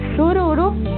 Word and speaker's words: sururu: Sur vamos a decir sururu y rojo siriri.